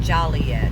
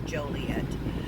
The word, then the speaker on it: Joliet: is oh no in joliet is a misdemeanor some people will say joliet and that's not how it's pronounced it's joliet i know the pronunciation